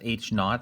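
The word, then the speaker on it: H₀: have good evidence otherwise it's pronounced h naught i think not is like british for zero h is the alternative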